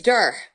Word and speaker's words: Duhr: know your last name my last name is durr spell that for me yeah d like dog u